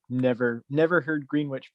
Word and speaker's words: Greenwich: the village voice and i'm like well what village it was like greenwich so later i'm visiting and they're like no dude everyone says greenwich it's just the way it is it's like there's